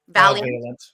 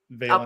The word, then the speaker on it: Vailiant: Am I pronouncing your name right? Valiant. Vailiant.